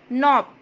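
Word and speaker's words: knob: एक और वर्ड लेंगे हम नॉब, के एन ओ बी, नॉब, इसमें के साइलेंट रहेगा, इसका हिंदी मीनिंग होता है दस्ता।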